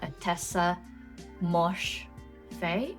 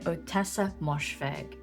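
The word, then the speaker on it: Ottessa Moshfegh: That one is written by a tessa mosh fe.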